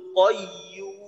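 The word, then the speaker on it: قيوم: কাইয়্যুম, এখানে তিন আলিফ টান দেব। ইয়া যেন মাখরাজ থেকে হয়, যেন ইউ না হয়, ইউ না। ইংরেজিতে যে একটা কি আছে যে ইউ, ইউ, তো ইউ যেভাবে উচ্চারণ করি ওইভাবে না, জিহ্বার মধ্যখান থেকে নরম ভাবে ইউ, ইউ।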